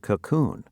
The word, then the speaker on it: cocoon: When you say cocoon, you place the stress on the second part of the word.